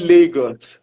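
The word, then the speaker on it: Lagos: But we call it Legos. like it goes.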